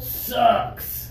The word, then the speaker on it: suck: no good okay so this is with pressure down here okay let me say